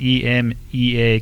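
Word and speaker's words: EMEA: slowdowns with some very challenging syncopation no it's pronounced em EA cuz it's Europe Middle East Asia Europe Middle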